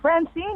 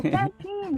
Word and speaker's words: Fantine: And I'm like, Fantine. And they're like, Francine. I'm like, no, Fantine. Like, it's your name, Fan. Like, rhymes with Fantine.